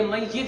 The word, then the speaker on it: میت: یہ میت ہوتا ہے بھائی. لفظ کیا ہوتا ہے؟ میت. لوگ ہمارے یہاں میت بولتے ہیں.